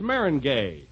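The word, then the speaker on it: meringue: famous for my lemon mingu binu well that's marinay marin oh is that the way it's pronounced oh see you learn something every day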